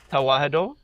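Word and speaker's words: Tewahedo: Tawaho.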